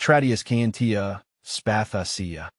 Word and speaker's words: Tradescantia spathacea: a bit of practice it's pronounced tradus cantia spasa breaking it down into syllables help me get it right and now it rolls